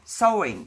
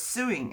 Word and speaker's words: sewing: I came over here I didn't know that you pronounce sewing sewing I thought it was suing and my husband would